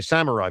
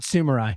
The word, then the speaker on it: samurai: Samurai village. Is that how he say? How do you say this? Samurai. I'm guessing it's not sumai.